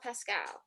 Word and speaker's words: Paschall: second time, but you everybody wants to make my name rhyme with itself. It's fine. And you know what? Close enough. People have been getting my name wrong for a long time too, and it's Paschall, which you think would